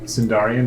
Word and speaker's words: Sindarian: The silent. How I spelled that? Silent N. Kanindarian. The N is silent. Sindarian. Both the C and the N are silent in Idarian Mountain. Those two letters at the front. Just ignore those. Nobody actually ever uses those ones.